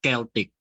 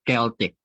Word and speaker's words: Celtic: It's pronounced as Celtic, okay, because this is, I think, a product of Switzerland or Austria. That's why it's pronounced as Celtic, not Celtic, okay.